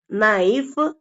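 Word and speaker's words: knife: வை நம்ம இந்த வார்த்தைகள்ல மறந்துரணும் எழுதும்போது எழுதணும் படிக்கும்போது உச்சரிக்கும் போது கேவ அடிச்சிட்டு நோ நைஃப் நீ அதே மாதிரி டபள்யூ வந்து இந்த வார்த்தைகள்ல சைலெண்ட்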